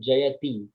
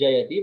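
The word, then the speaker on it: जयति: yeah it's connected so this is not jayathi the word actually is jayatee but when you are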